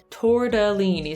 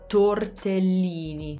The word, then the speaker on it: tortellini: have another pasta one i used to always say tortellini tordellini so again we use the flap t torda so that's the other thing is the torda that uh uh in italian it's spelled with an e so tortellini tortellini so again there's a double l and an l is the sound that you can hold so we hold it and that's how we make